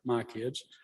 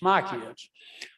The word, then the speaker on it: MyCIDS: is in charge of My Kids. That's spelled MYCIDS, by the way. Don't ask me what the acronym stands for, but it's My Kids.